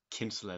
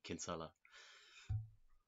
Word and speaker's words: Kinsella: I'm sure like a lot of Americans probably do pronounce it that way, but that's the, at least in Ireland, that's the traditional way of pronouncing it.